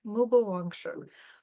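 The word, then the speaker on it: Mu Bu Wang Shi: Mu is M-U, Bu is B-U. Mubu Wang, W-A-N-G, Shi, S-H-I. Mubu Wang Shi.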